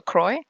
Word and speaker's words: Croy: Okay, Futini says, let me see, rhymes with toy. So Croy.